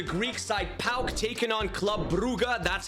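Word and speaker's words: Club Brugge: it is the Greek side pal taking on Club buuga that's how you say it I looked it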